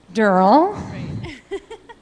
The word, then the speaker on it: Durrell: I'm from Mabel's Labels, and here we have Durrell, rhymes with squirrel, and she's from @Clippo.